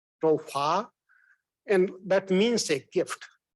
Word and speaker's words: Toufah: change her name we in India or that part we pronounce is tofa in her part is more pronounced like tofa and that means a